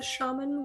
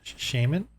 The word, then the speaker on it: shaman: And yeah, just so you know, the proper pronunciation is shaman, but Shaman? shaman is also acceptable. And I like shaman better. But shaman is Sounds like the more shame, man. shaman. I know it's kind of weird. Shaman is the more British pronunciation. I was gonna say it sounds very English Shaman. or Irish.